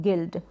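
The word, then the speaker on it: guild: बाद में आई है तो इन सारे स्पेलिंग में यू के बाद में एक और वावेल आया कोई सा भी हो सकता है तो वहां पर यू क्या है साइलेंट है यू का उच्चारण नहीं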